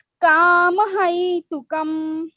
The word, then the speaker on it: कामहैतुकम्: Ma'am मुझे इस word का प्रोनाउंसिएशन नहीं आता। हाँ सही है। देखिएगा, किमन्यत् कामहैतुकम्, कामहैतुकम्।